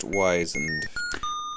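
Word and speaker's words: wizened: The wizarded gnome relaxes and settles back in his chair and begins whistling the Smurfs theme again. It's pronounced wisened.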